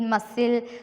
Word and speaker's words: muscle: Decent, discipline, seed, muscle, scissors, send. S sound is here pronounced. Here in the above words, the letter C is not pronounced.